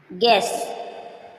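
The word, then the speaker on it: guess: क्या है साइलेंट है गैस गैस यू के पहले जी आया यू साइलेंट है गैस गेस मींस अनुमान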